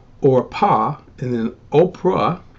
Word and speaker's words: Orpah: in the r so as you can see the biblical pronunciational name is orpah and then oprah it's